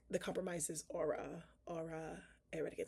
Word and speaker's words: Aura: It's definitely like ore, but aura. And aura is like aura. It's aura.